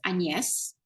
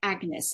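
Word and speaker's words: Agnès: it but interestingly enough my first name in French is pronounced and yes but you spell it like Agnes in English and I hate Agnes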